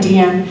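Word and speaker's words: Deanne: That's how you say my name, Dian. I think I said just recently, I just said not Dian Sastro, Dian. But people see my name, mereka lihat ejaannya D-E-A-N-N-E, Din, nggak tahu gimana apa sebutnya.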